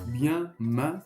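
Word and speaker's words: मैं: Donc bien main comme en français.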